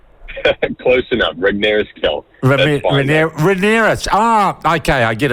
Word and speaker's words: Regnerus-Kell: I've been told several times that I don't pronounce it with enough phlegm in the middle.